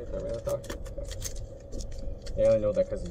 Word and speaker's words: Tyranitar: Tyranitar, right? That's how you say it, Tyranitar?